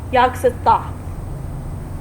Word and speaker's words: Yog-Sothoth: Speaking of that, There's that name, the yogurt or yoga south or yoga. It's pronounced Yog-Sothoth.